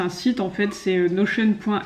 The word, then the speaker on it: Notion: attendue sur nos chaînes donc ça s'écrit notion mais ceux des notions d'anglais donc nos chaînes qu'est ce que c'est c'est un outil sur internet c'est un site en fait c'est nos chaînes point s o c'est